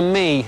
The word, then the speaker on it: Mii: This tiny money saver is called the Me, spelt with two I's, don't you know?